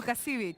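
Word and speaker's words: Łukasiewicz: Did I say it right? Thank you. Lukasiewicz. Thank you, Camille.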